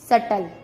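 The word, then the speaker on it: subtle: बी का second रूल है, जब टी से पहले बी आता है तब भी बी का उच्चारण नहीं किया जाता। जैसे डेट, डाउट, सटल।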